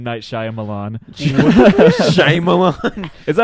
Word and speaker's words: Shyamalan: Shyamalan. Is that how you pronounce it? It's Shyamalan.